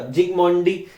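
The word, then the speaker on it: Zsigmondy: एस और आई अपन वो मतलब एस साइलेंट रहेगा, जिग्मोंडी रीड करेंगे।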